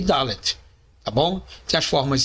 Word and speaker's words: Dalet: Podemos encontrar em outras fontes seu nome como sendo Dalet. Contudo, a pronúncia correta é Dalet.